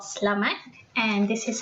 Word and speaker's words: selamat: It's selamat. You just pretend that the E is not there, just slash that. It becomes selamat.